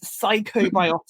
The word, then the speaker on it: psychobiotics: me and everybody else what on Earth is psychobiotics even if I've said it right have I said it